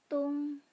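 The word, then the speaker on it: tong: Ketika huruf O bertemu dengan huruf NG, kita membacanya ung. Contohnya tung.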